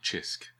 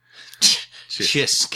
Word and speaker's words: Cisk: Called Chisk. Chisk. It's spelled Cisk.